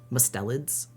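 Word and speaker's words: mustelids: I love mustalids. Mustellids. Yeah, I can say that. That's how you say it.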